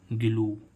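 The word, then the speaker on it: glue: है अंत में तो इसको हम क्या पढ़ेंगे गलू ग्लू मीस क्या होता है गो ठीक है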